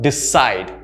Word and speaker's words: decide: It's a verb. Decide. So the stress is in the second syllable.